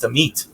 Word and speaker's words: Amit: everyone to know that my name is pronounced the meat um and um no